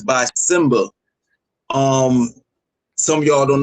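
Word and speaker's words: Symba: It's by Simba. Um, some of y'all don't know who Simba is. It's spelled S Y MBA.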